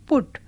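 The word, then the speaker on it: put: भी ज्यादा कठिन है लिखा जाता है यू पी यू टी और उच्चारण होता है पुट ध्वनि जिस रूप में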